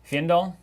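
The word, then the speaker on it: Fyendal: Fendall fandol. Fandol. How do you say that? You say uh it's the greatest word in flesh and blood. Fendall. That's how you say it.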